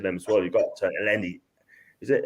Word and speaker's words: Elneny: You've got Elneny. Is it Elneny? Elneny. That's it. Elneny's one of them. I'll pronounce that at the end.